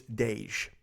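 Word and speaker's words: Daij: It's Dej. Okay, that's how you pronounce his name.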